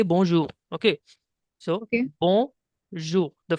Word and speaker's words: bonjour: So the pronunciation will be like bonjour. Okay. Okay, the alphabet R in French is equivalent to the alphabet H in English while pronouncing.